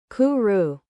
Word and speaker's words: kuru: Kuru like a dove cooing home.